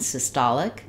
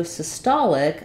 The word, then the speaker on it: systolic: syy syy unusual pronunciation then when we change to systolic our stress changes to the T syllable and vowel sounds change we still have sis in the beginning but now it's going